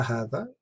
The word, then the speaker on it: هذا: Note, هذا is pronounced هذا, but it is written without the first alif. It's not alif here, but here. This is how it's read, but this is how it's written.